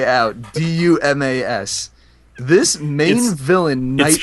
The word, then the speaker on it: Dumas: guy from the Holy Roman Empire named Dumas d-u-m-a-s hey if you phonetically say out d-u-m-a-s this main villain nice pronounced dumbass his name is dumbass I'm sorry it's pronounced